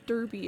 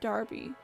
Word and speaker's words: Derby: of not knowing that a word that looks like it's being pronounced Derby is pronounced Darby.